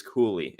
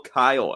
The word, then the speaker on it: Cuylle: If you've been listening to us for the past several months, we've been calling him Will Cuylle, and we just found out via the New York Rangers team website pronunciation guide. It is Cooley.